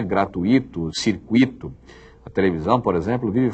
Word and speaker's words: circuito: culta muito bem então se você descobrir que não é circuíto é circuito se você descobrir que